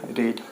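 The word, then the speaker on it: read: है हमारा, रीड, रेड, रेड। यहाँ पे ये लिखाना है आपको, लिखना आपको रीड ही है लेकिन प्रोनाउंस करना है रेड, ठीक है।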